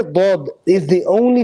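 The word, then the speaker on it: ضاد: The only letter that's not pronounced from the center line is the letter Dad. It's from the sides.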